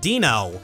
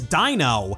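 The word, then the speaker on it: Deino: If you showed me this fellow's name and I never played Pokemon before, I would probably pronounce it Dino. But the official pronunciation is Dino, because the middle of its name is Ein, the German word for the number one.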